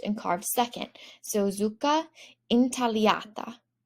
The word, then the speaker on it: intagliata: So zucca intagliata. So again, GLs do not sound like a GL, but sound like an LY. Let's say that one again because it was a bit hard. Zucca intagliata.